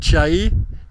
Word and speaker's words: Chelly: je vous présente le canyon de chai alors ça c'est écrit en français les gens prononce canyon de Chell en Arizona on est